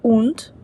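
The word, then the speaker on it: und: дал фінік дункел темний якщо літера стоїть в кінці слова то вона читається ближче до Т наприклад унт це і сполучник хунд собака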